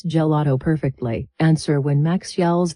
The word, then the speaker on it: gelato: It starts like the word jelly, G, then the middle part gets all the stress and power, and the A sounds like ha, la. Finally, it ends with a simple to, gelato. If you stress the first part and say gelato, it sounds unnatural. Lean into that middle sound.